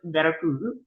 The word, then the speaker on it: Veracruz: And so let me make sure that I pronounce it correctly because I feel like such a poser every time I say it correctly. In the appropriate um, Latin accent. So it's Veracruz.